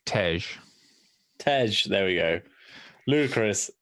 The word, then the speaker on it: Tej: It's Tej.